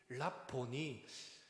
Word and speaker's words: 랍오니: 마리아가 딱 예수님을 쳐다보면서 랍오니요, 랍보니, 헬라 그리스어식의 정확한 발음은 랍보니인데 랍오니라고 한글은 번역되어 있습니다.